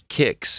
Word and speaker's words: Qix: But the trailer just looks like it's Kicks. Am I pronouncing that correctly? Qix?